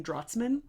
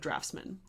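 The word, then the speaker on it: draughtsman: I always keep saying draughts boards. I will be later saying draftsman instead of draftsman.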